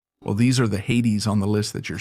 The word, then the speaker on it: Hades: Hades, or Hades as it's pronounced in English for some reason, was the king of the underworld and the god of the dead.